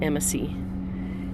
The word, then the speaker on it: amicy: plot to secretly pursue a sinister goal it's pronounced emma c it's spelled amicy dead reckoning okay it's a